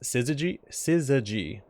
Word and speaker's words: syzygy: Alright, so this is pronounced syzygy.